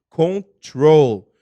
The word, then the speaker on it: control: o verbo two control prestar atenção na pronúncia control então dá para você observar que a sílaba tônica é a segunda ó é como se tivesse um acento circunflexo certo chapeuzinho do vovô para quem lembro isso